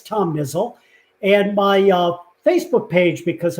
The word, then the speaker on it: Niziol: And even though it's Niziol like drizzle, it's spelled Niziol. Nope. IOL. Niziol. Sorry. Yeah. And That's a good last name. And the last tidbit, the official Polish pronunciation of my name is Niziol.